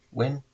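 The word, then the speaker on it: Nguyen: It's Hoang Win Nguyhn Win. Pronounce it Win.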